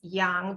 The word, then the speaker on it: yang: So yin and yang, it's pronounced yang, by the way.